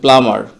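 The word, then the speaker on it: plumber: এর কাজ করেন তো এটা মূলত হচ্ছে প্লামার এখানে বীর উচ্চারণ অস্পষ্ট থাকবে। অস্পষ্ট বির উচ্চারণ হবেই না টোটালি।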